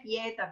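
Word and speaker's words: pieta: con tanta sofferenza è pietà così con l'accento sulla prima sillaba vuol dire appunto angoscia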